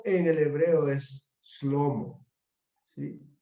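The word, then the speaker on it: שלמה: la palabra hebrea shalom que significa Paz la pronunciación en el hebreo es slomo sí slomo que significa realmente su paz o la paz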